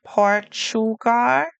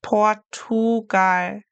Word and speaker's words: Portugal: Portugal. It's not Portschugar, like a ch, it's Portugar. So, in German, remember we're going to pronounce each letter in the word.